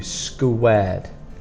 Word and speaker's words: squared: So for spelling and pronunciation, squared might be difficult because of this QU. It's a K sound, so you think C or K, but it's a QU, squared.